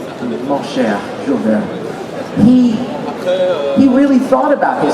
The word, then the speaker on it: Jules Verne: How do you pronounce it in French? Jules Verne? Jules Verne. Mon cher, Jules Verne.